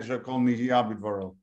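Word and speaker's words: שהכל נהיה בדברו: Halachically, when we're going to say it, shekol nihiyah bidvaro is the generally accepted pronunciation of it, and therefore it's in the past tense.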